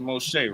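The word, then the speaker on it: משה: So if you see on my screen, bro, this right here is the word Moses, right? It's pronounced Moshe, right?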